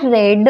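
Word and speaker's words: read: form सुद्धा आहे जो पास्ट टेन्स मध्ये आहे लाईक वाचणे किंवा मग वाचून होणे पास्ट टेन्स आहे आय रेड an interesting book yesterday काल मी एक खूप इंटरेस्टिंग बुक वाचलं वाचलं रेड पण त्याचा स्पेलिंग काय आहे लिहिताना आर इ ए डी सो it depends on the sentence की तुम्ही या शब्दाचा उच्चार कोणत्या प्रकारे करणार आहे सो रेड आर इडी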